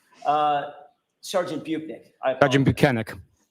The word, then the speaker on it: Bukhenik: bunck I Sergeant buenik how do I say it buenik okay well we've learned how to pronounce his name it's banic um I am not